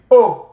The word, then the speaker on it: aux: They are pronounced the same way. Au tennis, aux cartes.